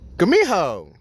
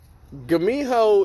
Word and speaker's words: Gumiho: Gumiho is spelled the exact same way whether you use the G or the K, because they have the exact same sound in Korean.